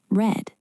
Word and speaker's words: read: It sounds like the color red. Right. I read a book every day is present simple, but I have read that book uses the past participle sound, read.